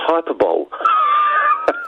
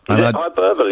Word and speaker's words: hyperbole: and lies you know I thought it was hyperball I know I I know hyperboy is how you pronounce it um let but let's